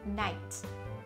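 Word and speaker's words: knight: あとは Night、 Night、騎士っていう意味ですよね。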